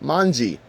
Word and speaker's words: manji: In Japanese, the character is pronounced mangi and uh it it is represented with the arms pointing to the left.